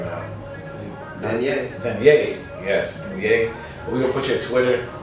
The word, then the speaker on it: Dannia: Yes, Danye.